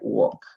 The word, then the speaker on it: walk: ok, walk, perdón, walk, no se pronuncia la L aquí, ya, walk, caminar.